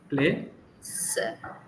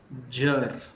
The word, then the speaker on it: pleasure: Don't go to Zed. Just stick to J. Play sir. Play sir. No not sir. No z. I'm using ch. No. Play pleasure. Playure.